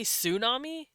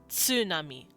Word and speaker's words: tsunami: tsa ts like in tsunami however we say tsunami in english because we're dumb but the original japanese pronunciation for that is tsunami tsunami you can hear that sound if you